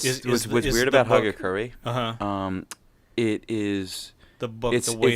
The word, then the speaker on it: Hagakure: I printed out you the I hope I pronounce it right it's the Agera correct is that a you say huh hagakure sorry hagakure you guerra nice it again pokery